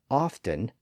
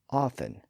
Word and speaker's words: often: so Hart apparently said often and Elizabeth said Often by the 1700s most sources suggest that the te was completely silent but in the last century or so it started to reappear